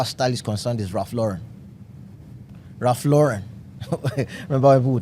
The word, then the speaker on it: Ralph Lauren: His name is Raf Lauren. He's not Raf Lauron.